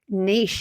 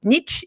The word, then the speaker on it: niche: So you need to be really niche in terms of, what's, or as you say in the US, niche, isn't that how you pronounce it there?